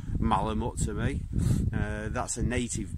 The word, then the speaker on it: malamute: so yeah there was aspects of malamute or malone muse depending on which way you want to pronounce it in case anybody tells me i'm pronouncing it wrong malamat to me that's a